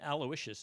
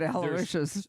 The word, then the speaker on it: Aloysius: And then Aloysius is his middle name because it's just the dopiest name in the world.